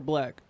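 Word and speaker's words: 6lack: It's pronounced Black. Well, it was the number 6 and then it's Lack, so Right.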